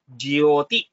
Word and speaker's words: jyoti: some pause for example while saying it very fast you may say jyoti but when you have to say it slow and you have to pronounce it properly you have to give it that time jioti if you say it and practice it will automatically come it's not very difficult